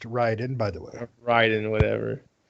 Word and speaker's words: Raiden: like to a lot even though they had raiden in there but i ended up liking raiden in the end even though he was naked for the first half of it it's pronounced ryden by the way ryden whatever uh was actually